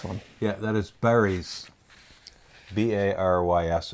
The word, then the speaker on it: Barys: Barys is how you would pronounce it in English.